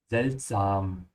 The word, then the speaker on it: seltsam: Yeah, don't say seltsame or something like that, because you can see same looks like English, but it's not. Yeah, it's sam. Seltsam.